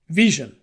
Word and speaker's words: VSHN: heard about it before that's how you pronounce the name Vision just like vision that's why there's an eye in the logo we're a company of